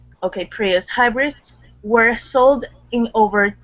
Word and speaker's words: Prius: remember um that uh Prius that I you can pronounce just like a like a Spanish Eye there okay okay but then that U you'd go back to a an American short u sound Prius Prius okay okay